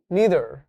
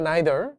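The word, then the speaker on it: neither: তাহলে উত্তরটা কি হবে মি নিদার অথবা নাইদার দুইভাবে উচ্চারণ করা যায় আইদার অথবা ইদার একইভাবে নাইদার অথবা নিদার বুঝতে পারলাম তাহলে আমরা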